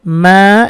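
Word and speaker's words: ما: উচ্চারণ হবে মা, এক আলিফ টানবো, মা খালাক, মিং শাররি মা খালাক।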